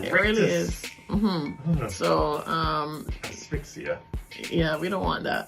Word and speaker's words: asphyxia: its poison constricts muscles, causing death by asphyxia.